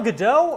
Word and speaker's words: Gadot: I'm going to give you 2 pronunciations for number 3. It's either Gal Gadot or Gal Gadot, but where is she from?